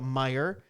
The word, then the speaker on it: Meijer: Meijers, if you're in the north. Well, right? it's Meijer. You add the S. It's Meijer if you want to say it correctly.